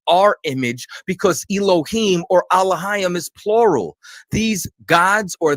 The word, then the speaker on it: Elohim: people meaning the judges were called alayam which some people pronounce as Elohim these are the rulers